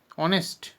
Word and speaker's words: honest: একটা শব্দ ধরো এরকম লেখা আছে HONEST, অনেস্ট। তাহলে এখানে কিন্তু এইচ দিয়ে শুরু হলেও আমরা লক্ষ্য করছি তার পরের ভাওয়েলটার গুরুত্ব আছে বেশি উচ্চারণের সময়, এই যে কিন্তু এই উচ্চারণটা উজ্জ্ব থাকছে।